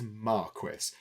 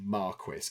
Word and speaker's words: marquis: And in the UK, the British pronunciation of this is Marquis.